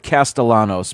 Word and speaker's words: Castellanos: They have a brand new quarterback, uh, Tommy Castellanos. They pronounce it Castellanos, but it looks like Castellianos with the double L pronounced like a Y, but they they were saying it like it's an L.